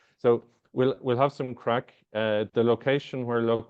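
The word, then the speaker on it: craic: impression here folks so we'll we'll have some crack uh the location where loc world is is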